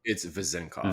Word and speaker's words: Vezenkov: It's Vezenkov.